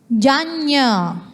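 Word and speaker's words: jaññā: This na become nya when you put this one top of the N. Okay, it's pronounced as Janya, Thanjanya vasalo iti.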